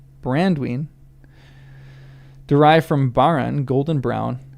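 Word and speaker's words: Baranduin: The Hobbit names of this river were alterations of the Elvish Brandwine, accented on and. Brandwine, derived from Baran, golden brown, and Dwine, large river.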